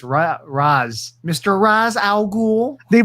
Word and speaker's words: Ra's al Ghul: So Nolan's Batman's not even Raj, it's Raz.